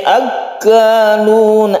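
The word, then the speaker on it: أَكَّالُونَ: Samma'una lil kadhibi akalun. Akan tasydid kaf, ini kita tekan ke kafnya ya. Jangan ragu-ragu untuk menekan kaf ini karena dia itu bertasydid.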